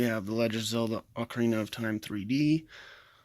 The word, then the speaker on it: Ocarina: the legends of the Ocarina of Time 3d ocarina is the correct way to say it this is one of